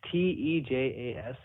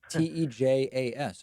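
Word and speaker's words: Tejas: stages um they just te Jas te Jas all right I like that isn't it my house which is how you say Texas in Spanish yeah kind of all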